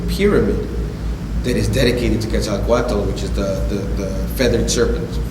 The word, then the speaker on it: Quetzalcoatl: And what you had talked about was the Christ figure, Quetzalcoatl. Am I pronouncing that right?